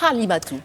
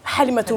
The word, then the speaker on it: Halimatou: Alors on prononce Halimatou. Halimatou, oui, le Ou H. Halimatou. Non, pas le Kha, parce que le Kha, c'est K-H, mais Ha, c'est juste le H.